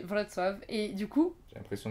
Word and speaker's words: Wrocław: Et le genre le C tu le prononces T, le L c'est un L barré donc c'est W, bref, voilà, donc c'est Wrocław.